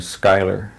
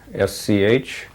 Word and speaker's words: Schuyler: I have a middle initial for and I pronounce my last name Schuyler, Schuyler.